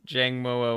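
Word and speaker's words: Jangmo-o: know right I'm terrible everyone says Jang Mo oh but but because from Sun and Moon it I I could I could see the pronunciation of jangmo because it's from Sun and Moon specifically it's an it's an O and then an o sound like I don't I don't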